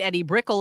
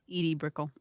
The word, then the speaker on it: Edie Brickell: My first wife was Carrie Fisher, and I married Eddie Brickell in 1992. Who am I? Edie Brickell. Edie Brickell. Thank you. I knew I was saying it wrong.